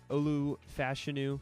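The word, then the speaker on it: Olu Fashanu: I think they're just going to snag one Olu fashion yes that is how you pronounce it out of Penn State was projected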